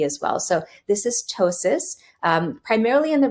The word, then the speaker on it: ptosis: common symptom is ptosis so p-t-o-s-i-s we pronounce it ptosis like t-o-e-s-i-s and um here you